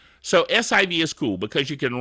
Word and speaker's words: SIV: week this week is s IV Civ I'm just pronouncing it that way to be silly it's actually SIV system information viewer now this is one